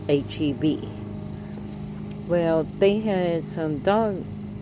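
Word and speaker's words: H-E-B: And then I had It's H EB people. It's not Hebrew. It's pronounced H EB.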